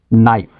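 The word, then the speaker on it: knee: ডাম বোবা এর উপরে শব্দের শুরুতে যদি কে এন থাকে কে এন তবে কে সাইলেন্ট থাকে অনুচ্চারিত থাকে যেমন নাইফ ছুরি নি হাটু নক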